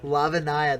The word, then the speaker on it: Lavinia: He's got a Lavinia. Or Lavinia. Yeah, I like your pronunciation. Lavinia.